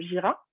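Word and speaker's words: Jira: pour la gestion du back lot qui est gira si vous ne connaissez pas ça s'écrit j ai ras c'est très simple c'est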